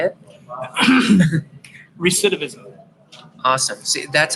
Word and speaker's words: recidivism: I I did help you like help you pronounce the word recidivism can you say it recidivism awesome see that's how good of a teacher